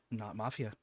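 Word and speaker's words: Not_Mafia: We're going to start with the lovely Not Mafia. Hello, it is me, not _mafia_, which is the correct way to say my name.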